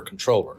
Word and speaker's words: Comptroller: And when I say controller, of course, one of the questions I always get is it Comptroller or Controller? Because it's spelled C-O-M-P, Troller.